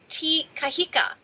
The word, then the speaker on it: Te Kahika: i think so let me okay it's billy t kahika tk well done well done that's really well